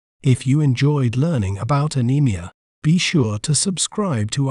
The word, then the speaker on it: anemia: better understand its meaning and pronunciation we may pronounce it as anemia anemia a NE Mia anemia anemia is crucial in